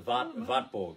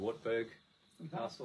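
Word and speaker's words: Wartburg: As well, the Vatborg, it's pronounced in German, the Wartberg Castle, as we would say, Vborg.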